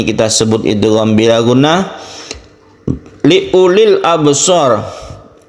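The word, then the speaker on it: لِأُولِي: Li ulil absar, u-nya ini meskipun ada waw, ini tidak dibaca panjang, jadi membacanya pendek saja. Li ulil, bukan li ulil, tapi dipendekkan karena wawnya ini berfungsi hanya sebagai tulisan dan bukan sebagai tanda mat atau tanda panjang.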